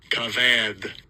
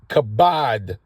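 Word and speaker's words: כָּבַד: himself strongs H 3513 cavad cavad to be heavy second entry okay so c c it's actually kabad you know these vs the way they pronounce it this is something else but it's kabad which is to be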